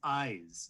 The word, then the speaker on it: Ize: That's Eyes, spelled I-Z-E.